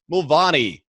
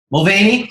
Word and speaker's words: Mulvany: today we have Ryan Mulvany. Did I get that right? Mulvany, but Mulvany is how you're supposed to pronounce it if we're in Ireland. So technically, yes. Right. The United States, no.